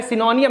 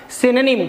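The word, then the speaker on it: synonym: सिनोनिम नहीं कहना है, सिनोनियम नहीं कहना। इसे कहते हैं बच्चों क्या? सिनोनिम। क्या कहते हैं बच्चों? सिनोनिम कहते हैं।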